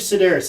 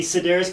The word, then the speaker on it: Sidaris: And I believe Sidaris is how it's said. And I think that's how I've heard it being said before.